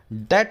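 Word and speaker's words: debt: मतलब होता है कर्ज आप डेट में भी नाम का फर्ज है यह साइलेंट है ठीक है डोंट नहीं बोलते डेप्ट नहीं बोलते इसमें 20 साल एंटर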